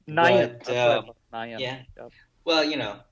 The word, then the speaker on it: Nayan: It's Nayan. Nayan. But, Nayan. Yeah. Yep. Well, people have their different pronunciations of it, but Naresh has never experienced any difficulty with people saying his name.